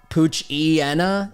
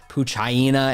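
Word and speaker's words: Poochyena: But Puchiena is always going to be the way that sounds right in my brain. Puchiena, Mightyena makes sense versus Puchaina and Mightyena.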